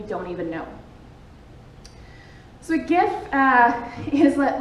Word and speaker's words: GIF: And I think it is, but I like GIF with a G instead of a J, because it's like with a G, because it's like a gift. It's like a beautiful gift to the world.